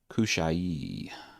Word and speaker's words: Hushai: And it's actually pronounced a different way. Kushai is how phonetically.